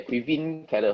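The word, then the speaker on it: Caoimhín Kelleher: if i'm not wrong keller will go there quivin keller here yeah so no more pronunciation i think it's actually not a bad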